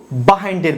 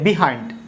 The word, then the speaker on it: behind: এবার আমরা শিখব বাহাইন্ডের ব্যবহার। শব্দটি দেখে তোমরা বুঝতে পেরেছ, এটি আমাদের দেশে অনেকে উচ্চারণ করে বিহাইন্ড। আসলে এর উচ্চারণ বিহাইন্ড না, এর সঠিক উচ্চারণ হচ্ছে বাহাইন্ড।